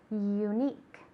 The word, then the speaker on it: unique: okay great unique okay it's a long u sound unique all right domar to